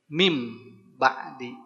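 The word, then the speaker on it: مِنْ بَعْدِ: Awalnya min ba'di berarti jadi mim ba'di. Bi gunnatin tapi juga pakai gunnah. Maka bacanya jangan hanya mim ba'di. Tambahin gunnah berarti gimana? Mim ba'di, mim, rasakan. Karena dia pakai gunnah, rasakan ke rongga hidung.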